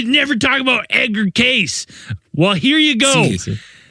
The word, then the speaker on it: Cayce: I mean, it looks like I thought it was Case. Case. It looks like Case. I saw too. people written it out as Casey. They're like, this it's is Casey.